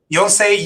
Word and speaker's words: Yonsei: He is a professor at Yonsei University in Seoul. I think I'm pronouncing it correctly. Yes, absolutely. Yes. Yonsei University in Seoul.